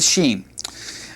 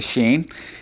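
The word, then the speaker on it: שין: When it has the dot over here, then it has the sh sound, such as in the English word sherry. But if we take the dot off and it's on the left side like this, then it has just a simple uh s like in uh Abraham's wife Sarah.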